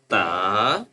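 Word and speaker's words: ت: And the next one with two dots on the top that's called ta.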